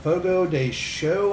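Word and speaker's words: Fogo de Chão: steakhouse known as uh fogo day show i believe is how you're supposed to pronounce it but it looks like it's ciao but i believe it's pronounced show or something to that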